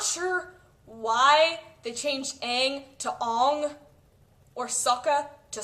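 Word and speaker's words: Aang: anime and the original the writer ERS it's Ang the writers chose Ang and Saka that's how it was pronounced I'm not I don't care if that's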